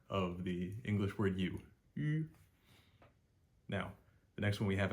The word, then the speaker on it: yuan: U with an umlaut is U, and here the A represents a short E. So it's UN, UN, UN.